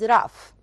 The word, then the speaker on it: rough: The opposite of it is rough. Take care for the pronunciation of gh here. Rough. Rough.